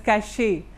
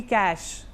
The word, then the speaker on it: cache: Most of us pronounce it as cache, but it's actually cache.